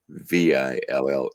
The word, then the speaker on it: Abbeville: The spelling is Abbeville. That's Ab with a B sound, Ville, Louisiana.